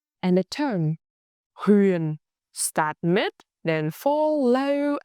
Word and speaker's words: Huế: ue ue ue And the tone s raising pitch again, sharp and clear. hue hue hue Our full combination moon ma hue Repeat after me.